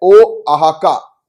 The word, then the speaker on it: Oaxaca: तो इसका correct pronunciation जो है वो है ओआहाका। क्या है, ओआहाका, बोलो।